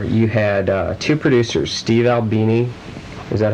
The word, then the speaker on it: Albini: On Flower Plower, you had two producers, Steve Albini, is that how you pronounce it?